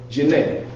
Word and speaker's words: Djenne: So the next place we went to was Djenne. Now, you do not pronounce the D like Django, right?